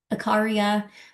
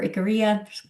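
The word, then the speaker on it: Ikaria: in California, Nicoya, Costa Rica, Sardinia in Italy, Icaria or Icaria, depending on how you want to pronounce it, in Greece, and then Okinawa in Japan.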